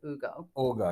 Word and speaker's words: Hugo: one is called well it's spelled Hugo but they pronounce it Ugo Ugo yeah and lean really